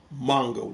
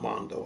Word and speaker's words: Mongo: It's pronounced Mongo, not Mondo.